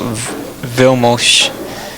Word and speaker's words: Vilmos: And um here you just put Vil Mosh. So that's the correct pronunciation of his uh name.